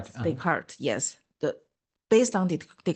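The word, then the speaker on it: Descartes: brain and mind from uh the how to pronounce it decart. Decart Deart.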